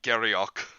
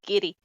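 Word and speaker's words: Garioch: But yeah, so Worcester sauce, you don't say the share, just like with giddy, you don't say Garriock. No, it's giddy.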